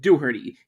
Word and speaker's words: Dougherty: Actually, his name is pronounced Luke Dooherty.